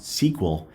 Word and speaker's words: SQL: for structured query language sql is pronounced sql and is the standard